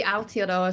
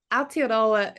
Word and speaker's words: Aotearoa: The Aotearoa Circle. Okay. Talk about it, because it talks about restoring natural capital for future generations. I thought that was really cool. Yeah. So Aotearoa is the te reo word for New Zealand.